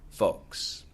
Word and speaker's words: folks: to the virus free folks folks f o l KS don't you some people pronounce the L you don't have to f o k s